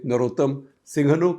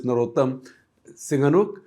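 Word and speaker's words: Norodom Sihanouk: by a monarch prince Norodam Singhanuk. In India you would say Narotam Singhanuk. In fact on India radio Akashwani used to pronounce his name as Narotam Singhanuk.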